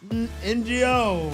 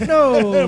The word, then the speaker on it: Ngo: Number 56 will be Mark NGO. No, Mark No. Mark No, that's how you say it.